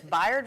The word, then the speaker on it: Bayard: a Phillip Randolph Institute was I saying it wrong Bayard is it bio dressed in OKC I learned something today it's Byard Rustin and clay Ola brown